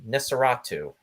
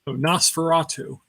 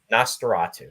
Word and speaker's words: Nosferatu: to be uh showcased is going to be nisaratu am I pronouncing that right Ross Nosferatu Nosferatu there we go yeah now this is a